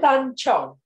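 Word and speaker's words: tangzhong: She'll pronounce it properly because I can never do that properly. Tanchong.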